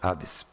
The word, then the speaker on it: Hades: e no Novo, Hades, ou como o H em português não se pronuncia, nós escrevemos com H, mas acabamos assim engolindo e sai Hades. Mas escreve com H, por favor.